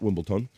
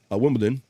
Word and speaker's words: Wimbledon: and his wife attending Wimbledon not Wimbleton Wimbledon and let's say it